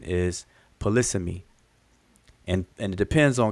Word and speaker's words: polysemy: um palisami you know and i used to pronounce that all the time polysemi and i've heard people say it paula semi but um it's the correct pronunciation pronunciation is polysemy and and it depends on kind of where